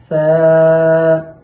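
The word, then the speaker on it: ث: আরবি 29টি হরফের সহি শুদ্ধ উচ্চারণ।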